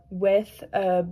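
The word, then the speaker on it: est: So first the form of etra is and that's s u i s and then for two it's 2 a and that's e s.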